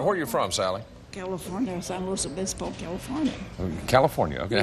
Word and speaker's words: San Luis Obispo: California, San Luis Obispo, California. California. Okay. How do you pronounce that name again? The town? San Luis Obispo.